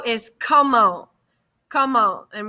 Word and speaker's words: comment: So how is comment. Comment. And we don't pronounce that T. So comment. It's not comment, it's comment.